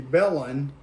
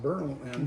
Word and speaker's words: Bellon: See, we were called Spencer then Augusta and then it was supposed to be Bellon after Mrs. Spencer's hometown in Scotland, but it got mispronounced Berlin because so many Germans.